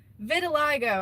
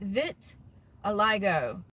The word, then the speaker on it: vitiligo: Vitiligo. I was close. Is it? And am I saying it right? Vit aliggo.